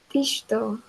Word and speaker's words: digital: The stress on the first syllable, Digital, digital. Okay.